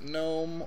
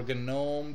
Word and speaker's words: GNOME: you're using QT and in no or gome depending on how you say it you use the GDK